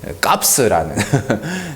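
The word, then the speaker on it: Kopps: 스웨덴 영화인데 값스라는 그 그쪽 발음으로 이제 값스라고 이렇게 하는 경찰은 스웨덴의 한 마을에 10년 넘게 범죄가 없는 마을이 있었어요.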